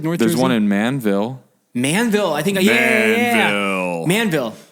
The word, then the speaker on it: Manville: make a rule that if you say Manville you have to say it like a man Manville yeah it's the Montage